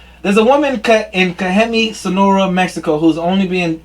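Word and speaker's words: Cajeme: this it's in mexico c-a-j-e-m-e kajammi or kagemi or cayenne or they don't say they don't use j's i'm sorry cayemi sonora mexico yeah kahemi kahemi sonora mexico there's a woman cut in kahemi sonora mexico who's only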